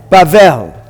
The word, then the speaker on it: Bavel: The letter Beit without the dot sounds like V. And then we have the Lamed. We've got open, closed. So how do we pronounce it? Bavel. And what does that mean?